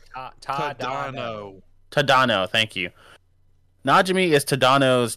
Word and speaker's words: Tadano: Najimi is Tagana. Someone pronounces like Tadano. Tadano.